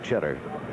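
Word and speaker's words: Tschetter: Cheddar. He spells it T S C H E T T E R, but says it's pronounced like the cheese. Cheddar.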